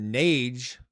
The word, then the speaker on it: Nades: Nades. It's kind of pronounced Nades, like grenades.